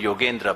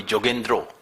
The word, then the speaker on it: Yogendra: he would not like bengalis do not call me yogendra bengalis call me jendro and the Punjabi pronunciation of my name is jender so he would just